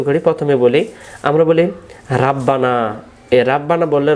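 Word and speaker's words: رَبَّنَا: আজকে আমি আপনাদেরকে এই মুনাজাতের যে দোয়াটা আমরা বেশিবার বলে থাকি, রব্বানা জালামনা আনফুসানা, এই শব্দটা আমি আপনাদেরকে উচ্চারণগুলো সহি করে দেওয়ার জন্য চেষ্টা করব। আমরা শুরু করি, প্রথমে বলি, আমরা বলি রাব্বানা।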